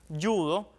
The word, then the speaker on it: judo: ve aquí en pantalla Pese a que aparece escrita con j por ejemplo la palabra yudo está muy arraigado que digamos así yudo sin embargo por su grafía o sea por como está escrita debería decirse judo verdad por eso las academias